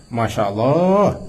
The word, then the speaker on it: Masya Allah: Yaitu Masya Allah. Dan Masya Allah, Allah ini panjang. Panjang kan?